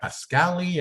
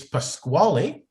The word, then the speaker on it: Pasquale: always butcher my name they call me a pascali uh a squall you know it's pasquale yes and my the short